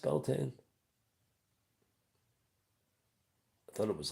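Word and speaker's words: Beltane: And I know it's not beltine. It's pronounced Beltain.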